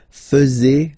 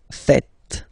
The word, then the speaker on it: faites: And it's quite funny because many French people tend to make the mistake and tend to say vous faisiez, okay? But then no. It's vous faites. Vous faites. Okay? So remember, final S here is not pronounced, and then this is not pronounced either.